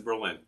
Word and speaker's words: Berlin: Okay, so the pronunciation is Berlin, like the German city.